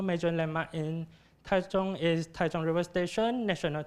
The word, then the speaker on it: Taichung: And the other one is Taichung. C-H-U-N-G, Zhong is the Chinese pronunciation of this word, this Chinese word, and this Chinese word means center.